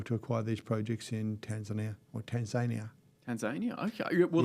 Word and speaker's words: Tanzania: acquire these projects in Tanzania or Tanzania Tanzania okay well that's the locals pronounce it Tanzania ah I was unfamiliar